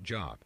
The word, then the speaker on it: Gob: characters from the crazy gob pronounced job who wants to be